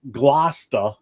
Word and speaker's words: Gloucester: Gloucester. Gloucester. Glaucoma. There's no H in there. Gloucester. Lucister.